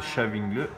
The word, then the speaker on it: Stavanger: Donc les 8e, ça se prononce Stavanger, pour se maintenir.